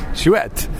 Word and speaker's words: chouette: are a French challenge have you pronounced that shoe a chouette schuette alright schuette but not see you know yeah okay Schuette sesh wet co because it's not calm